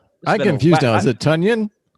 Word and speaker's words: Tonyan: We have Robert Tonyan, who apparently, you would say his name wrong, Mo, just so you know, it's not Tanyan, it's Tunyon.